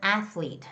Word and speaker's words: athlete: And then the word athlete. Now, these are the people who are doing exercises, right? Is athletes. It's the first syllable stress, so it's going to be athletes. Athletes.